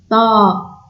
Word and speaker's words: ط: Ici, on prononce avec un son plus grave. Ta, c'est pas T, c'est Ta.